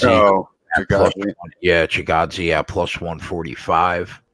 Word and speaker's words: Chikadze: I can't even pronounce this guy's name. Giga Chikadze. Oh, Chikadze.